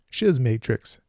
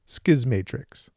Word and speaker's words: Schismatrix: talking about the novel skis Matrix my arch nemesis pronunciation rears its ugly head in this video see how many times I say shiz Matrix instead of skis Matrix and now on to